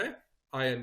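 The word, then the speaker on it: iron: आयरन नहीं बोलना है, आयन। यहाँ पे आर जो है वो साइलेंट है, आयन।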